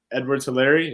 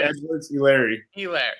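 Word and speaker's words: Edwards-Helaire: beautiful maybe clyde's edward edwards hilary yeah yeah you butchered the last name clyde edwards larry hilaire elaire ellis just put quickly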